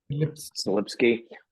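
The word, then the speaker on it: Selipsky: I can almost guarantee it's going to be Larry Ellison or Thomas Kurian or Adam, how do you pronounce his last name? Slipsky.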